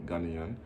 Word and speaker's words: Ghanaian: Let's say it properly, Ghanaian.